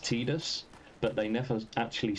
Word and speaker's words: Tidus: far as I'm aware, canonically, through other voiced work, it's pronounced Tidus, but they never actually